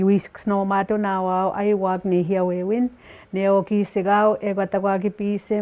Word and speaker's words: nêhiyâwewin: Nêhiyâwewin is pronounced as the Cree language within the Y dialect. Okay, even that one, some places they could be saying nêhiyâwewin, like, you know, different pronunciation with even just that term.